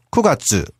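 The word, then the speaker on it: 九月: 월을 할 때는 쿠가츠. 라고 하죠.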